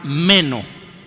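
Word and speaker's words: μένω: Hay una palabra griega que se usó ahí que se llama meno, o se pronuncia, meno.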